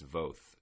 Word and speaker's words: Voth: Voth, or Voth, and it can be both because it's Voth, and it rhymes with both, and I'm just going to start calling him by his proper name, which is Voth from now on.